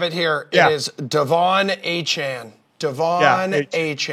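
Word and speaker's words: Achane: it I have it here it is Devon aan Devon aan say it with me Devon aan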